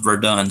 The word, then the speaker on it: Verdun: make it I was just asking oh it's pronounced Verdun see I had it right the first time